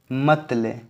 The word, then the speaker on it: motley: ये बहुत ही रंग बिरंगा है, इसको क्या कर ले, मत ले। मोटले को ब्रेक कर लो, मत ले।